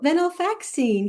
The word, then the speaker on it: venlafaxine: So, you worked on a multi-center venlafaxine? Venla- venlafaxine, yeah. Venlafaxine, yes.